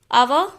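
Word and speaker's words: hour: क्योंकि H silent है और उसके बाद O है और उसका प्रोनाउंसिएशन भी O से ही स्टार्ट होता है.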